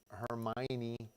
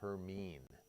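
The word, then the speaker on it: Hermine: and I know it it looks like Hermione uh Harry Potter fan um but I looked at the National Hurricane Center pronunciation guide and it says her mean so I'm gonna go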